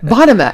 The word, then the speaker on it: Bonema: Bonema? Bonema, yes. Did I say it right? Yes, you did. I did it. Bonema.